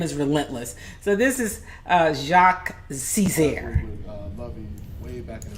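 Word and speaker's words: Jacques Cesaire: So his name is Jacques Caesar, is how you say his name.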